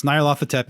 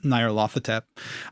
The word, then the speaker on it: Nyarlathotep: I've heard different pronunciations. Nyarlathotep is this strange wise man, scientist, Tesla /